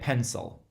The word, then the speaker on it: pencil: its two different syllables when we say pencil there's one of the syllables that gets more emphasis than the other and so pen pencil there's a certain stress to that first syllable so that e is really a short e pen pencil yet if you listen carefully you listen to that I the sound that I makes it's actually more of an a sound pencil that's how you